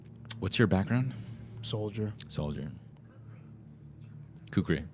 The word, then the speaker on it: kukri: Kukri. Kukri.